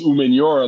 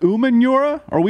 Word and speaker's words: Umenyiora: Is it Umenyiora? Have we all been saying it wrong? Yeah, it's actually Umenyiora.